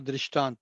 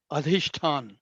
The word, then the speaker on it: अधिष्ठान: इट इज नॉट दृष्टांत, the word is अधिष्ठान।